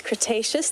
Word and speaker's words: Cretaceous: But Sikle is saying it's Cretaceous. Thank you, Sikle, for helping me pronounce that.